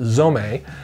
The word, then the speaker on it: Zome: the zom-- a and it's spelled Z ome but pronounced zou may as Eric from Spyderco told me this is a pattern